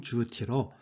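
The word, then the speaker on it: 猪蹄: 중국어 발음은 주티로 장원급제를 알리며 붙인 방과 발음이 같습니다.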